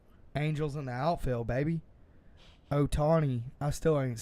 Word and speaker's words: Ohtani: Otani. I still ain't saying his name right. He's been playing all year. Is that how you say it? Yeah. Ohtani? Shohei Ohtani.